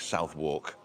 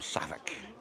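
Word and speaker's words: Southwark: something like you know in London you've got places that are spelled like South walk and they call them savic and stuff like that you know so there's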